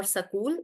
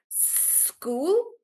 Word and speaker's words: school: make that error and you may say is school or sakul. If you're making that error just stretch the s sound and say it like school start in when you're